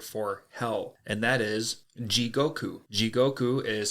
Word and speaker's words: jigoku: the Japanese word for hell and that is ji Goku jigoku is spelled j-i-g-o-k-u and jigoku is very relevant to